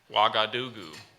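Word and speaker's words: Ouagadougou: Africa how do you how do you pronounce it again wakka Doo goo blog I do goo okay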